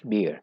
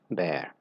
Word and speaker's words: bear: i have noticed that some people pronounce it as beer it's not beer it's bear so as a verb